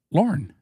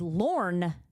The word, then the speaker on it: Lorne: How do you say this name? Lauren. No? No, it's Lorne. Is it? Lorne. Yes. Like Lorne Green.